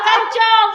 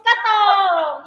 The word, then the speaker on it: Katong: It's not Kanchong, it's Katong. Yeah.